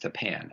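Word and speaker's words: Old Tappan: For one reason or another, the school district is pronounced Tapan, as in Old Tapan.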